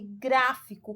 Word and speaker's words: gráfico: E na palavrinha aí, gráfico, qual é a sílaba tônica? Aqui é fácil de identificar, né, gente? Porque o gra já vem com acento.